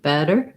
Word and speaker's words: better: just want better better my tongue lights up lifts up for a light d sound and drops we have the red tent vowel in better first syllable stress and then we end with our er sound i do have a